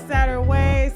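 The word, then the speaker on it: Satterthwaite: wave okay but it's Saturn wave so the the T and the H is silent on the end of your name welcome to South Florida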